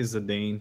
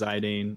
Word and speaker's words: Zidane: from that fight yeah he's got one of those names that people pronounce a bunch of different ways I say zadane TQ says zidane I'll say zidane sometimes uh a lot of people say zadan like the baller um you know it's